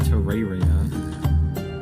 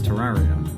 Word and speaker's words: Terraria: I'm not pronouncing it Terraria. It's Terraria. That was honestly my favorite so far, despite the fact that I don't entirely agree with the title. That was my favorite so far. I would give that an 8.6, I think. That was, the last syllable is also A.